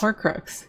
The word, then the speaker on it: Horcrux: How do you pronounce it? Horcrux? Horcrux? Horcrux, yeah.